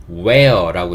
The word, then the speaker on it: wear: 할 때 제일 처음에 있는 단어 wear이 단어는 where라고 읽습니다이 단어의 뜻은 무엇 무엇을 입다란 뜻을 가지고